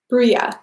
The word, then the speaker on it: bruja: Bruja is the correct pronunciation.